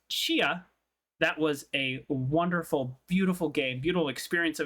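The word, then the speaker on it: Tchia: The award goes to Chia, spelled T-Chi, T-C-H-I-A. Helps if I close my eyes. That's dyslexia. I can spell if I close my eyes. Pronounced Chia.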